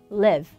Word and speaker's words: live: 그래서 live. 이거는 I가 하나라서요. leave보다는 짧게 끊어주셔야 됩니다.